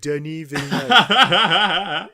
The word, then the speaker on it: Villeneuve: And Denis Villeneuve, that's the way we say his name, Denis Villeneuve.